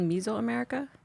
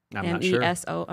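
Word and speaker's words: Mesoamerica: And um the agavei had been part of life in is it called miso America? Is that how you pronounce it? M e s o america America.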